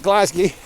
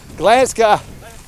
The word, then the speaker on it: Glasgow: we had a farmer how do you say Glasgow if you come from Glasgow Garden no not glassy Glasgow Glasgow it's like I can't see